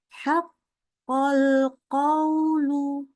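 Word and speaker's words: حق القول: Haqqal qawlu. Bacanya gitu ya. Haqqal qawlu. Qawlu. Hati-hati, dia bacanya lunak aja. Qawlu. Antara fathahnya dengan U-nya gitu ya. Bacanya sama panjangnya tuh.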